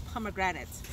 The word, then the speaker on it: pomegranate: And right beside it is pomegranate, or the proper way to say it is pomegranate.